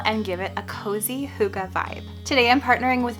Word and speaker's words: hygge: my room a really hookah natural vibe if you've never heard of the word hookah before which is spelled hy gge it's a Danish term that means coziness but